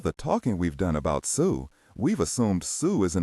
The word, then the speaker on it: Xu: turns out there are names in Chinese that are pronounced Sue or close to it. The closest one is a family name written in English as XU or SU.